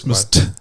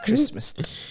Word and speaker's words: Christmas: I pronounce the T in Christmas. Christmas. Yeah, I pronounce the T. Christmas.